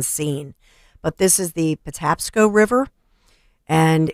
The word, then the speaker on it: Patapsco: of the river you said how do you pronounce that it is the uh Patapsco Patapsco Patapsco okay the Patapsco River I never heard